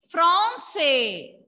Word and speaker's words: français: When A and N come together, pronunciation will be O. Nasal O sound.